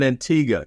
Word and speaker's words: Antigua: start from the beginning you grew up in Antiga did I say it right you said it